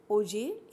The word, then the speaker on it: Auger: तो फ्रेंच में इस शब्द को हम प्रोनाउंस करते हैं एज ओजे। ये ओगेर नहीं है, इसको जी को ग नहीं बोला जाता है, ये ज बोला जाता है क्योंकि ये एक फ्रेंच वर्ड है। तो इसका करेक्ट जो प्रोनाउंसिएशन है वो है ओजेर इलेक्ट्रॉन स्पेक्ट्रोस्कोपी।